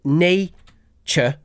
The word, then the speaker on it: nature: it can be um when it's a suffix like that at the end like in nature then it's just a schw Nature Nature Nature as with the most unstressed suffixes in English we just reduce it to a nature nature uh now